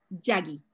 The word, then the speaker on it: Yagi: ¿Es Yagui o Yagi? ¿Cómo se pronuncia? Yagi, Yagi. Yagi.